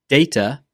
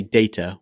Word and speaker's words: data: Data, data. I say data with the A vowel.